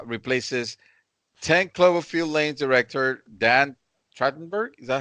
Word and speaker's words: Trachtenberg: So Travis Knight said, as reported by Deadline, replaces 10 Cloverfield Lane's director Dan Trachtenberg. Is that how you pronounce it? Yep, Dan Trachtenberg.